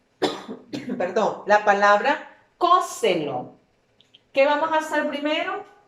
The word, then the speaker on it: cóselo: Perdón, la palabra cóselo. ¿Qué vamos a hacer primero? Separarlo en sílabas.